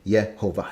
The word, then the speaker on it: Yehovah: manuscripts thousands of times where the scribes said yet Hova and again the point is described knew how the name was pronounced just like when they say Val mer